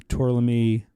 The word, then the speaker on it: Tourlami: Is there a big difference between using Tourlami?